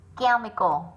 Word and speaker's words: chemical: Chemical là âm k.